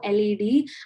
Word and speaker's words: Unschooled: And by the way, Unschooled is pronounced as Unskooled.